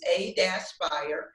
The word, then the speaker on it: A-Spire: come by our website so we do pronounce the - so it's a - spire and that's a - SPI re dot-com and we have a